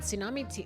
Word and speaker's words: tsunami: Tsunami, this T is silent.